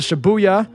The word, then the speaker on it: Shibuya: I need to go out to Shibuya, is how you pronounce it.